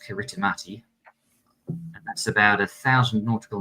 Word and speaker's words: Kiritimati: That is Christmas Island, yes, phonetically pronounced Kiritimati.